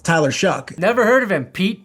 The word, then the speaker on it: Shough: He said it rhymes with it is Shuck, by the way.